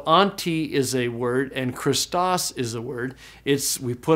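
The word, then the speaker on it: Χριστός: And so this word is pronounced Christos.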